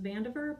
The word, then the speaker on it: Vandiver: dot fan diver VA m.div ER it's actually pronounced Vandiver but it is okay it's van dieter for